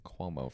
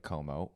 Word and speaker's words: Como: we're bopping over to Lake Como, which Jeremy was pronouncing Cuomo for the longest time. I thought it was related to the governor for some reason. I thought I wasn't going to go if he kept pronouncing it like that.